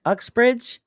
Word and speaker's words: Uxbridge: Is that pronounced Auxbridge, Massachusetts, Susan? Is that how you say it? Right on. I said it right.